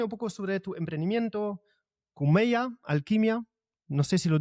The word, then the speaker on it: Khumeia: Pero bueno, antes de eso, comentame un poco sobre tu emprendimiento, cumeya alquimia, no sé si lo digo bien. ¿Qué haces y y qué significa esa palabra? ¿Y cómo se dice? Cumea.